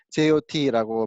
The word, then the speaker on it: JWT: 쓰나 해가지고 제가 찾아봤는데 how to prce jwt 하니까 어 jwt 프로나운스 jot고 발음 한다고 이거 말 말하면 안